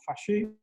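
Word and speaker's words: 法治: Derecho, y en realidad la palabra se pronuncia algo así como fascist, y en realidad esa palabra significa mucho más Rule by Law.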